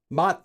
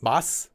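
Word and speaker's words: 맛: Mat for flavor is mat, not mas, like that.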